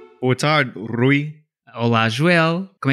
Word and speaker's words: Rui: Ok, mas agora diz o meu nome corretamente. Olá, Rui. Rui. E como é que a tua mãe diz o meu nome? A minha mãe diz... Ru. Ela tem 5 formas diferentes de pronunciar o teu nome e estão todos errados.